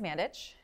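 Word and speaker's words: Mandić: my last name is mandich um when my great-grandparents moved from Serbia to Canada uh they changed the spelling of my last name because it's pronounced CH the C the accent and so um that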